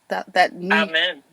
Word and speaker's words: Amin: I like to Amen. That New York amen, right? It's like always say the long A, not the short A, the long A. Like, hallelujah, amen. Amen. So it's Amin, though.